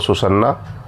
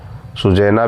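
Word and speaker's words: Susanna: Hamnet बेटा था, Judith और सुसन्ना, सुजैना भी कुछ लोग पढ़ते हैं, बट मैं हमेशा कहता हूँ कि स्पेलिंग याद करने के लिए अपने हिसाब से प्रोनाउंसिएशन करिए।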